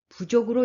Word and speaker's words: 부족: 라고 읽어야 됩니다 여기 부족도 마찬가지에요 아닐 불 발 쪽 만족할 쪽 이렇게 쓸 때 쓰기는 부적으로 쓰지만 읽을 때는 부족으로 일과 합니다 금상첨화 b 당금 위장